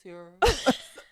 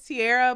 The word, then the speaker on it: Tierra: He be like, what's up, Tara? He says because my first name is Tierra, but he's from Houston, so he don't say my name He say right. Tara. He say.